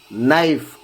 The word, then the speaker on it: knife: No, knock, knife, night, knowledge. In all these words, K is before N.